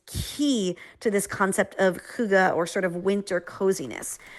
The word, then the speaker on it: hygge: I know none of us really knew how to say it, but hygge.